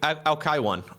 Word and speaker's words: Alcyone: It's Alcyone? Alcyone? Alcyone? Alkaiwan.